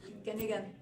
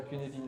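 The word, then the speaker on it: Cynefin: Ouais, c'est ça, Cunedin, le framework d'aide à la décision, d'aide à la prise de décision. Donc c'est gallois, c'est pour ça que ça ne prononce pas du tout comme c'est écrit.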